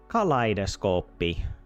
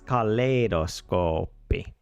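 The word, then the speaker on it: kaleidoskooppi: Uh, it's got to be it's got to be something like kaleidos kaleidoscopy. I get credit. I guess I didn't pronounce th this correctly. It's caloscopy. And I wouldn't have spelled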